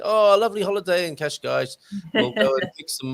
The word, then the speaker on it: Cascais: um and speaking of kashgash i read somewhere it's pronounced cash guys that's one way of remembering it isn't it okay you